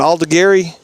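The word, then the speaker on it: Aldegheri: How'd you pronounce his name? Alda Gary? Yep. Okay, cool. That's how I would have pronounced it if I was reading it out loud.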